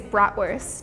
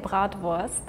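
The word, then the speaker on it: Bratwurst: I would say it's bratworth. Oh, yeah. So, we say brat worst. But then here's the thing. Like in my dialect I say, but in some more high German you probably would say a little bit more Rheavy brat. Vst.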